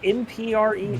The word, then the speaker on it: MPREG: What is MPREG? Male preg. Male pregnancy. I hate that so many of us know that. Pronounced M-Preg, thank you.